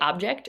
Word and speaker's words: object: Do you say object or do you say object? Object, emphasis on the first syllable or object, emphasis on the second syllable.